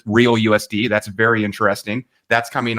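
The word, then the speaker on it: RLUSD: the RL USD uh they pronounced it real us that's very interesting that's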